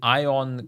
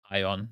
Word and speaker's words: Aion: some highend new stuff thing is Aon that could make sense Aon yeah ion is probably the Turkish like German way of pronouncing it ah Aon yeah